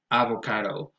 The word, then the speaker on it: avocado: The next one is avocado, and here the stress goes on the third syllable. It has a secondary stress on a, so you might hear things like avocado, but then again, the primary stress goes on the third syllable.